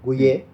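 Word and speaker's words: Gouhier: Sí, Gouillet. Lo pronuncié bien.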